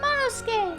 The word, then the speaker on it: Monosuke: Monosuke. Oh, sorry. I am ashamed. Skay. Just don't pronounce the U. Monosuke.